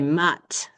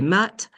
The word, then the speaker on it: maths: So, likewise with math, we would say they say les maths. They just pronounce the T there.